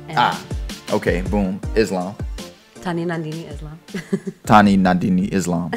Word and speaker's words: Tanwi Nandini Islam: Tanwi Nandini Islam.